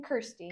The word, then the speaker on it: Kirsty: Kirsty.